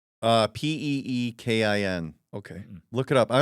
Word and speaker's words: Pekin: it spelled like pecan? Peekin.